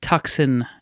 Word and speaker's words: Tucson: going it's a uh warm evening here in Tucson Arizona that is how it's pronounced that's very good yeah yeah that's how